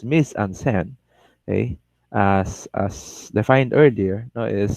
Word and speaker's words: mise-en-scène: capture it inside the frame all right so miss onsen now pronounce miss ansen as defined earlier know is staging and now